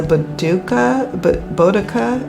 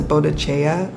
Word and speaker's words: Boudica: And it's the Boudica. I can never pronounce it because I always want to pronounce it Bodicea or Bodicea, but that's not the correct way.